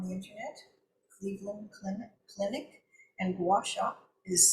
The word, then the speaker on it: Guasha: If that's something that you'd like to search for on the internet, Cleveland Clinic and Guasha is spelled Gu U A S H A.